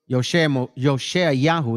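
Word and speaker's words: Yehoshua: Yosha Yahoo is the pronunciation properly in Hebrew.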